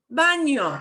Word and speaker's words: baño: Oh, baño. Baño. Año. Baño. It's like an Baño. N and a Y next to each other.